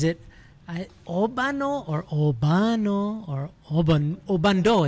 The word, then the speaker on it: Obando: Is it Obano or Obano or Obando? It's this silent D. Obando.